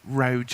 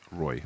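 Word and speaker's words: roeJ: We said it before, but it's like, you know, you're saying Roj, and it's like, I'm pretty sure the J is a Y. Yeah, I was thinking that's the I know I've pronounced it Roy before as well.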